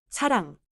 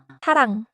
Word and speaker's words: 사랑: At the beginning of a syllable, 이응 is silent. At the bottom, 이응 sounds nasal. So, 이응 at the start is like a placeholder, but final, 이응, is the nose sound.